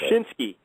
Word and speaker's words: Wyshynski: I never could pronounce it. Wyshynski.